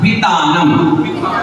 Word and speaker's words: वितानम: और नाम के बाद भी माँ कैसा है? आधा। तो नम पूरा नहीं बोलना है, नाम बोल के मुंह बंद करोगे तो अपने आप माँ का उच्चारण निकल जाएगा।